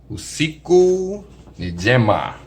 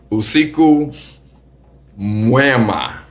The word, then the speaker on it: usiku mwema: So my new word, usiku njema. Mess it up. It's actually usiku mwema. MWEMA. You gotta spell it. Mwema. Yeah, because even the word I said before, I said Gemma is njema. You gotta put the N on it.